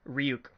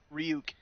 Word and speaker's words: Ryuk: How do you pronounce it? Ryuk. Ryuk.